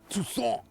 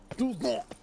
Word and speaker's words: Toussaint: Toussaint is the correct pronunciation. Toussaint is the exact pronunciation.